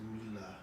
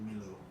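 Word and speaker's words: Milla: Those movies are sure keeping Mila Jovovich in business, though. Mila Jovovich? Mila Jovovich? Isn't that with a J? It's Mila. Mila. You said Milo.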